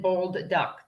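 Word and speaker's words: Bolduc: asked about Donald baldwick bald as in bold duck that's how it's spelled except one D bold duck the uh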